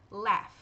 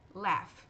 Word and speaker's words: laugh: Porém, tem algumas exceções de palavras em que esse GH no final das sílabas tem um som de F. Por exemplo, laugh, laugh, laugh, enough.